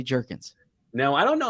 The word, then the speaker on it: Jurgens: company called beef jerky there was questions on draft night about the pronunciation of his name whether it's jurgens or jurgens it is definitively jerkins now i don't know